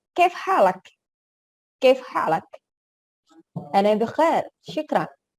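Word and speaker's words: كيف حالك: Kalau di Arab Saudi, kalau orang Indonesia itu kaifa haluk bisa kaifa haluk pengucapannya. Tapi kalau di langsung orang native, kaif halak.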